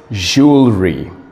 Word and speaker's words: jewelry: wife it's no that's wrong pronunciation the correct pronunciation is jewelry jewelry today I'm going to go buy some